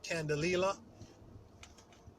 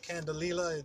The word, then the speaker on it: candelilla: plant-based wax called um, I'm gonna call it Candelilla. Yeah, Candelilla. That's how I pronounce it.